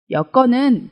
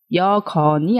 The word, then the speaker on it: 여건: 얻죠 다음은 여건 입니다 여건은 주어진 조건을 의미하는데요 여기에서 중요한 것은 발음입니다 여 검이 아니라 여건 이라고 발음되는 것을 주의하시기 바랍니다 자 그럼 이제 아래의